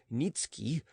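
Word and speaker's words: Niëtzky: a certain polish nobleman Nikki pronounced nitsuki had obtained the special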